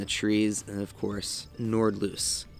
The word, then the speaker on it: Nordlys: trees and of course nord loose i thought it's pronounced nordless but it's pronounced nordloose the more you know